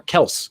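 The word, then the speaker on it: Kelce: Kelsey at that point, or Kels, I guess is the way you pronounce it. Yeah. Is that a correction that was recently made? It's Kels, he said it himself. Apparently, it's supposed to be Kels, which is odd.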